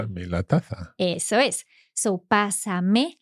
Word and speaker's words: pásamela: But pásamela, all running together. That means pass me it. And the pasa has an accent. Exactly. Okay. So that's to maintain the stress on that first syllable.